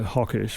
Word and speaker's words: Hochkirch: 19th century and they named the village hawkish which is not the German pronunciation but it's a sort of an anglicized pronunciation because they came from